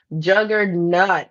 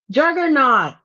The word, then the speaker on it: Juggernaut: Juggernut. Okay. I always said it wrong. Oh yes. Mickey is so right. The Marvel comics juggernaut.